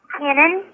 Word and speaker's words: Kenan: It's actually he goes by Ken, but it's Kenan. So I'm like Kenan?